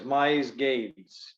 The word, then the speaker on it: Misegades: talk about education sure last name is Mize Gates two syllables very simple tell us your background